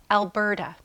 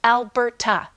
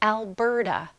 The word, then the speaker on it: Alberta: Alberta. Notice it's not pronounced Alberta. It sounds like Alberta.